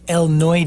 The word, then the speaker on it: El Noi: just let you tell me what that's called Eloy de okay that's how it's pronounced de Mar and it's the son of